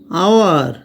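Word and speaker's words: our: আউ ground ground sound মনে রাখা দরকার কোন ওয়ার্ডের শেষে যদি আর থাকে এবং তারপর যদি কোন ভাওয়েল না থাকে তাহলে সেই আর উচ্চারিত হয় না যেমন ফাদার উচ্চারণ হবে ফাদার আওয়ার উচ্চারণ হবে আওয়া ভাওয়েল প্লাস সেমি ভাওয়েল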